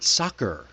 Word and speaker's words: soccer: So, uh, how about the word soccer? Soccer. Both of the two C's there are hard.